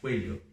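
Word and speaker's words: cuello: Lembra que 2 L's é som de LH, coelho.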